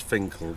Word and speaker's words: Finchale: if you put in Google Finchale Abbey, it's pronounced as Finkel, but in Google it's Finchale Abbey.